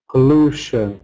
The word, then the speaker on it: pollution: Pollution is another one. Yeah. Before shun. We're always stressing before shun.